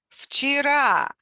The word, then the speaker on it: вчера: Вчера, вчера, yesterday. And V, which is voiced consonant, becomes voiceless, F, because it precedes Ch, which is also voiceless. So it's difficult to say Vch.